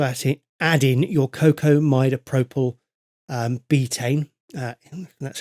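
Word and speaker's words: cocamidopropyl betaine: you would also add it add in your cocoa midopropyl um betaine that's how you say it um and that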